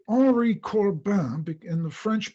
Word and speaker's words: Henri Corbin: at them, the first one was specifically about Henri Corbin. Oh, and let me do a footnote here. I always say Henri Corbin in the French pronunciation because I got used